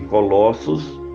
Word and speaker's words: Colossos: que ree do Senhor para que o cumpras pronuncia-se Colossos com isso estava definido o destino da carta